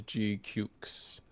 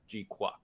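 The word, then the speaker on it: GQuuuuuuX: show it at best it's pron I pronounce it as gukes I think uh when we all went to Bandai Hardfest Orlando.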